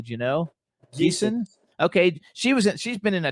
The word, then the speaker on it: Geeson: Judy, how do you pronounce Judy's last name correctly? Do you know? Geeson.